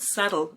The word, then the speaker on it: subtle: The word subtle means not obvious or easy to notice, delicate or indirect.